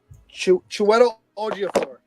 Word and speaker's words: Chiwetel Ejiofor: Chiwetel Ejiofor. How do you spell that?